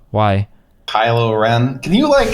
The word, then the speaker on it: Kylo Ren: Like, this was a 2.5 hour movie and we didn't get any real development of Rey or Rilo Kylo. Why? Kylo Ren. Can you not mispronounce the name?